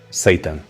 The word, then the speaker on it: seitan: Seitan. Sim, pronuncia-se como Satanás, mas esta proteína à base de trigo é tudo menos maligna.